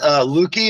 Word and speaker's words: Lueke: Don Lueke, is that the right pronunciation of your name?